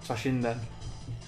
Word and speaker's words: Toshinden: Am I pronouncing that right? It is Battle Arena Toshinden.